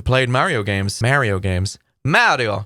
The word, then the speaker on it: Mario: mario games mario games mario mario it's italian but americans insist that it's mario they say mario it's mario mario it's italian mario and i need to